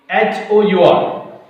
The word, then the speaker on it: hour: There is another word, hour. There this H letter, it remains silent.